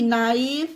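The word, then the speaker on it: knee: के बाद जिस वर्ड में जस्ट बाद एन दिखे वहां पर के साइलेंट रहेगा, जैसे कि नाइफ, नी, नॉट, नो, नॉलेज, knock, knit, new, night, naive, nail, नैपर।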